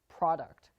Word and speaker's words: product: topic for another day it is called syllable stress there are instances when